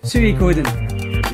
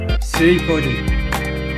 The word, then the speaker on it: Suikoden: future videos, here's one last time, one definitive pronunciation of this game series here. And it's quite simple. It's Suikoden. You got that? Suikoden.